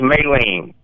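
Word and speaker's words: Mei-Ling: And she said, it's May, like the month of May. That's how you pronounce my first. It's Mi-Ling.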